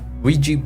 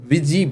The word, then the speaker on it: Ouija: நம்ம ஓஜா போர்டுன்னு இதை சொன்னாலும் இதை ஆக்சுவலாக எப்படி ப்ரொனவுன்ஸ் பண்ணணும்னா விஜி போர்டு அப்படின்னு தான் சொல்லணும். ஏன்னா வீக்கும் ஜிக்கும் சம்மந்தமே இல்லாமல் இதில் ஸ்பெல்லிங் இருக்குது அப்படின்னு நீங்கள் கேட்கலாம். இதை அப்படி தான் சொல்லணும். விஜி போர்டு அப்படிங்கிறது தான் இதோடைய ஆக்சுவலான ப்ரொனன்சியேஷன்.